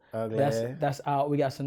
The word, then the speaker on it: Uglass: Ugly is out. It's pronounced Uglass. Uglass.